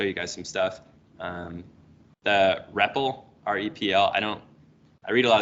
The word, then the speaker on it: REPL: But I think it's pronounced Repple. Stands for read, eval, or evaluate, print, loop.